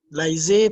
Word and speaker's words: laisser: Laisser, to leave. Laisser, A-E-S-A. Compound vowel, so say laisser.